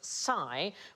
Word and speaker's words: psi: a single letter and we pronounce it Sai but in Greek that sound is more like the PS that we have in laps oh what about philosophy